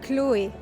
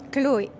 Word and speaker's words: Chloé: We don't pronounce the H at all, so it's Chloé.